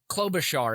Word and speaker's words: Klobuchar: also have a note here too uh uh klobuchar is how you pronounce uh senator amy's name klobuchar um well